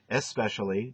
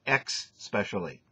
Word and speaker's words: especially: a l l y especially you pronounce it X specially all right it's not the way it's pronounced make sure you fix